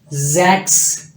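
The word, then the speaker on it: sechs: next आपके पास सिक्स एस जो है ये बेसिकली आपको जड की आवाज देगा जे के जक्स जक्स नेक्स्ट आपके पास सेन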